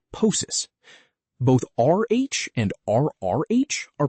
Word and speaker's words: ptosis: pt is pronounced as a t, like in ptosis.